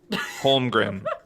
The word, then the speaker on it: Holmgren: Holmgren? Holmgren. Yeah. That's an Yeah, N it's or a an M weird at the last end. name. It's an N, I think. Holmgren.